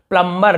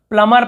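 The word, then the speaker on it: plumber: मैं लिखा हुआ हूँ प्लम्बर, लेकिन हम इसे प्लम्बर नहीं पढ़ते, हम इसे केवल प्लमर पढ़ते हैं।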